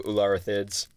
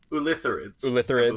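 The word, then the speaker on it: Ulitharid: We'll talk about their upgraded form, the Ularithids. No, I'm going to say it wrong every time until we actually get to it. Ulitherids.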